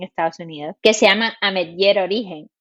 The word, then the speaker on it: Ametller: en la O sea no tiene acento específico pero se pronuncia amer es un apellido Catalán y ahora que pasé